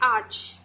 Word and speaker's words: arch: वैसे इसमें AR लगा हुआ है लेकिन R को हम यहाँ पर साइलेंट ही रखेंगे, तो इसे हम पढ़ेंगे आर्च।